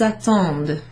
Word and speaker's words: attendent: So when you pronounce it, it just sounds like the first three. Ils, elles attendent.